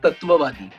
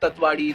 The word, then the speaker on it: Tatwawaadi: Majority of the people they pronounce it in the wrong way. It's Vaibhav Tatvavadi. So I've heard Tatwadi, Tatvadi. It's Tatvavadi.